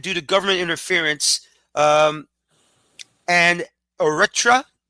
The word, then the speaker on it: Eritrea: Obviously, Congo are banned due to government interference, and Eritrea. Did I pronounce that correctly or no? Yeah, Eritrea. Thank you.